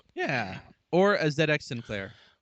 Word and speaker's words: ZX: # It is pronounced ZX. Yes, I I did correct myself in the show. Oh, I said ZX once, but I'm like, wait, no, Zed X because it's only their system really.